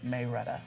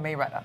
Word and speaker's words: Marietta: In Georgia, they pronounce it Mayretta. Oh, Mayretta.